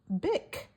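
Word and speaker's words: Bich: Now you have to be careful how you pronounce that last name because it's B I C H but you can actually pronounce it Bick.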